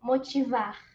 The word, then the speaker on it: motivar: In Portuguese po, it's a little different po, and you also don't pronounce the R po. Motivar.